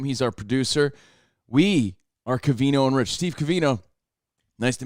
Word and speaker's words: Covino: that humpty hump day my name is covino pronounced with an ovino i like my oatmeal